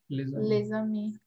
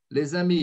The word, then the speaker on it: les amis: A gente nunca vai pronunciar esse S. Exceto quando o substantivo aqui começar por uma vogal. Os amigos. Sim. Les amis. Les amis. Então, a gente vai fazer uma liaison, né, no caso.